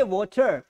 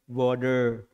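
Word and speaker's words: water: से तो इसको जब ब्रिटिश प्रोनाउंस कर रहा है तो इसको ये जो ट लिखा है ना इसको ठ कर देता है ये ट को क्या कर देता है ठ कर देता है वाटर क्या बोलेंगे वाटर लेकिन अमेरिकन जब इसे प्रोनाउंस कर रहा है क्या कर रहा है इसको ट ढ को ठ नहीं ड कर दिया वडर वडर समझ में आ रहा है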